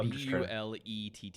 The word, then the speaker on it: Blette: or I think I think that's what it's pronounced like no you're good yeah b l e tte e oh okay okay and I'm ballet yep